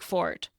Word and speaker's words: forte: And because this word came from French, where it's spelled without the E on the end, the traditional English pronunciation was 1 syllable, like fort.